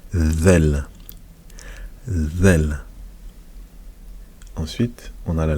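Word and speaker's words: ذال: Et on la prononce, la lettre zel. Il faut sortir un petit peu la langue. Zel.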